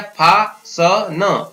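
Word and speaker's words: fasten: Next है अगर STEN लिखा हुआ हो तब भी हम टी को नहीं पढ़ते हैं, इसका उच्चारण है वो साइलेंट रहता है। जैसे F, फ और आ हो गया, फा स न, फासन।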